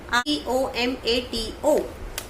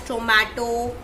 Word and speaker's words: tomato: So some people speak it as tomato or something like that. So now we will see the exact pronunciation of this word also. So actually it is pronounced as tomato. In British English it is pronounced as tomato, and in American it is pronounced as tomato. Tomato and tomato. Mato. It's mato at last.